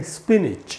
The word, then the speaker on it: spinach: यहाँ भी NACH से नैच नहीं बन के निच बनता है। अब क्यों बनता है ये तो कोई नहीं जानता, लेकिन क्या है वो तो हम सीख सकते हैं। तो इसका उच्चारण हम करेंगे स्पिनिच, यानी पालक, स्पिनिच, स्पिनिच। तो दोस्तों ये उच्चारण है,